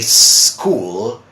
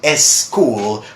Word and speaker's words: school: you my dear friends in English we say school skateboard and start so I know one of